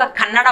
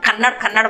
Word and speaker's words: कन्नड़ा: तो बहुत लोग कन्नड़ा भाषा को कन्नड़ बोलते हैं। ये कन्नड़ नहीं, ये कन्नड़ा है।